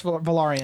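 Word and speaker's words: Velaryon: cuz like coralus uh is that's how you pronounce valarian yeah corus valarian he's a sea snake yeah um also you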